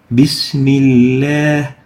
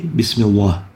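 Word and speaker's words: بِسْمِ اللَّهِ: Bismillah. We don't say Bismillah. The proper way is to pronounce it with tarqeeq.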